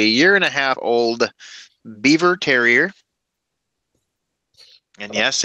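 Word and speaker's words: Biewer: and a half old Beaver terrier and yes it is pronounced Beaver like the the furry animal um it is spelled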